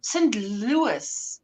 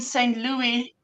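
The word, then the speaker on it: St. Louis: is uh yep St St Louis is how we pronounce it unless we're singing Meet Me In St Louie Louie oh yes because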